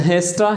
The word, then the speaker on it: has to: एंड हेस्टा, hedge तो hedge है और टा। He went टू school, correct pronunciation यही है।